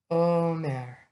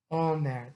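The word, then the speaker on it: אומר: Omer. Omer. That's the modern Hebrew pronunciation.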